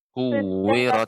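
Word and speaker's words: كُوِّرَتْ: Gimana Ibu sudah Ibu ucapkan dengan sifatnya? Sifat tak Harusnya kuwirat.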